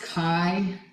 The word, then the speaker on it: chi: It's pronounced chi like the word bi, but with a K.